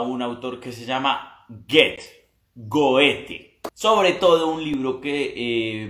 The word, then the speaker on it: Goethe: Se dice Goethe, se escribe Goethe.